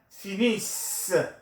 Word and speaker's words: finissent: vous finissez, il, elle finissent. This is silent. Don't pronounce the ENT at the end of a present tense verb.